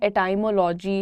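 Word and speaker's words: etymology: इस वर्ड को लोग पढ़ते हैं एटाइमोलॉजी, एटीमोलॉजी नहीं, the pronunciation is एटमोलॉजी। एटमोलॉजी, that's how you pronounce it.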